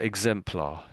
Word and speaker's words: exemplar: read it out but it's more exemplar exemplar I should say not the R is a bit dead I would say so exemplar exemplar exemplar that's it exemplar some people pronounce the R a little bit more than others so so exemplar exemplar